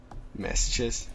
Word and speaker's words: masochist: Masochist? Yeah. Yeah. How's it really pronounced again? Masochist? Yeah. Like sun-kissed.